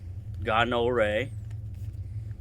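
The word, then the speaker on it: gaanur: Ganure, G-A-A-N-U-R-E, and is pronounced G-A-H-N-O-O-R-A-Y. Ganore, hand tools.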